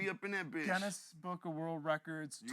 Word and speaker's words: Guinness: Guinness Book of World Records. You gotta Twitch. say it correctly though. It's Guinness. Not Guinness. Well, I'm Michigan accent.